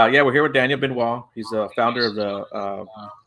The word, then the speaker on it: Benoit: That is how you say your last name, right, Benoit? Yes, yes, Okay, absolutely.